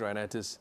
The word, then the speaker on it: rhinitis: Chen, is it common for a child to suddenly develop allergic uh renitis at age 10? Did I pronounce it right? Yes sir. Right. Allergic rhinitis.